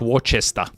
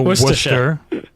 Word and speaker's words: Worcester: But it's not It's It's sort of like It's sort of like Worcester. Yeah, I grew up in New England and so Worcester Worcester, Massachusetts, everyone says Worcester when they're not from Massachusetts.